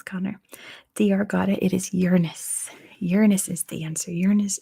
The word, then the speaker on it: Uranus: your husband lots of ringed planets out there Uranus is how it's actually pronounced Ashna that's how it actually pronounced like